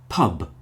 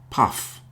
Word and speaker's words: pub: F type sound like pub. Pub. You hear the B on the end. Pub. It's not puff.